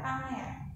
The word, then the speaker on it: Pangea: Jadi ini bacanya adalah Pangea.